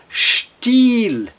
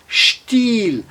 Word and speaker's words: Stil: Olha agora que interessante nessas duas palavras, na palavra still, still, o I seguido de apenas um L com um som alongado, e na palavra still, still, seguido de dois L's com o som breve, still.